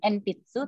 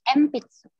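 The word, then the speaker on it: えんぴつ: Karena n ketemu sama p, itu bacanya bukan enpitsu, tapi empitsu. Bacanya jadi empitsu.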